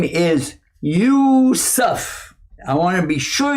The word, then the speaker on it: Yusuf: channel my name is yusuf i want to be sure you get that right because some people still pronounce it useless anyway we got a